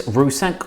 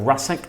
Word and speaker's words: Rusak: Now, last week I dived into a new house, which was Chris Rusak, or Rusak. I'm going to go by the way John Cusack pronounces his name.